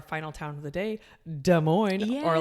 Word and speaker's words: Des Moines: And Des Moines, both words, two words, have an S at the end. Yeah. But they are not pronounced. Do not pronounce those S. So Des Moines.